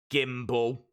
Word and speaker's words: Gimbel: a at Gimbel your surname is silly it rhymes with Kimball thimble bimble what's bimble